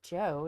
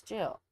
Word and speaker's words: Jill: And like when I say my name, sometimes people say Joe. No, it's not Joe. It's Jill.